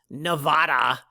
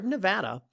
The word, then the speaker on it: Nevada: more properties in nevada not nevada as some people insist on mispronouncing but rather nevada uh more properties out